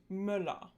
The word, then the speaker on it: Müller: The lax umlauts tend to occur in closed syllables, so syllables that end in consonants. These are often spelled with double consonants too. Some examples are Götter, Männer, and Müller.